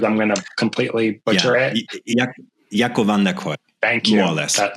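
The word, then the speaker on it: Jacco van der Kooij: Jacco, can you help me pronounce his name, because I'm gonna completely butcher it? Jacco van der Kooi.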